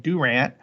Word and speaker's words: Durant: we have miami and we don't have durant we have durant uh and so there's